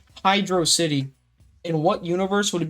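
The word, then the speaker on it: Hydrocity: Is it Hydroity or Hydro City? It's obviously Hydro City, but you know, it's fun to spark up a debate.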